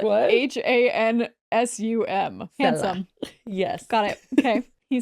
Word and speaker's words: Hansum: When I saw this username, I was like, oh, it's spelled like what? HANSUM. Handsome.